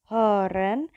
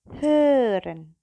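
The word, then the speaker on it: hören: Ketika saya misalnya bilang horen tanpa O, tanpa ada titiknya, berarti saya akan bilangnya horen, horen, horen. Tapi kalau ada titik duanya, saya akan bilangnya heren, heren. Bibirnya monyong, nggak usah dibuka, kemudian bilang oh. Nah, itu nanti akan muncul heren.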